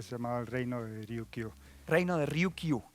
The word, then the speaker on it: Ryukyu: Walsh que habla de Ryukyu. Ryukyu, sí, sí, sí. No sabemos si se refería a eso de algún modo. Sí, en realidad en el idioma local se pronunciaría más Luchu.